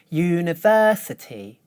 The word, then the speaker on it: university: Listen again and notice that the third syllable is higher than the others. University.